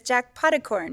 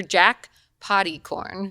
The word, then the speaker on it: Potticorn: and quickly's husband is jack potticorn yes is that right oh my god you said it right so many people say jackpot or jack potty corn potty corn that's actually funny but corn